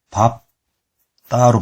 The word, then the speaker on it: 밟다: 만납니다 그래서 별표 했죠 얘는 밟다가 아니라 밥 따로 바르면 됩니다 그리고 리을 비읍도